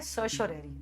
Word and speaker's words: certiorari: कई बार लोग इसके प्रोनाउंसिएशन में थोड़ा घबरा जाते हैं, इसको कहना है सर्शोरेरी, द रिट ऑफ सर्शोरेरी।